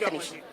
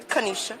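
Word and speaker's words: Kenesha: My name Kanisha. Okay, I'm sorry. Kanisha. Kanisha, can you spell that?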